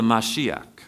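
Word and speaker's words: משיח: the Messiah to come they call it the mashiach that's how they pronounce it and I preached on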